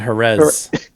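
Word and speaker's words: Jerez: it's my French Spanish it's not heres even though it's spelled j-e-r-e-z um and then Z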